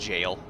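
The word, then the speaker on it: gaol: My understanding is if you're pronouncing correctly, it's still pronounced jail.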